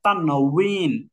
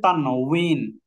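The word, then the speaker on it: তানউইন: আমরা তানবিন জি হুজুর এটা আসলে তানবিন না এটা তানবিন এটা হচ্ছে জের তানুইন তো এই যে ওয়াও এর উচ্চারণ বা এর কাছাকাছি তাই বাংলায় আমরা তানবিন লিখি আসলে এটার উচ্চারণ হচ্ছে তান উইন তান উইন উইন উইন এই যে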